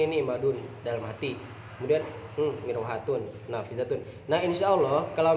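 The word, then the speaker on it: مروحة: Dibacanya apa? Mirwahatun.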